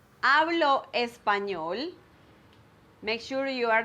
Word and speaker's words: hablo: saying the h like hablo espanol because the h is silent it doesn't matter if it's at the beginning or in the middle or at the end of the word the